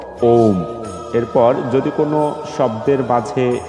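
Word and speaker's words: ওঁ: একটি শব্দ দেখতে পাচ্ছি ওম এই শব্দটি আসলে তিনটি বর্ণের মাধ্যমে আসলে উচ্চারিত যেটি আছে স্বর রস যোগ হচ্ছে ম এই তিনটি বর্ণের মাধ্যমে এই ওম শব্দটি উচ্চারিত হয় তাহলে আমরা এর উচ্চারণ শুদ্ধ উচ্চারণ করব ওম এরপর যদি কোন শব্দের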